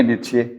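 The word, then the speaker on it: Nietzsche: یا لکھیں گے نیتشے، لیکن فارسی میں لکھیں گے تو نیتشا لکھیں گے، پڑھیں گے نیتشے۔ ہاں نیچے بھی کہتے ہیں، وہ کئی اس کے تلفظ کئی ہیں، ہاں نیچے بھی ٹھیک ہے۔ تو جاوید نامے میں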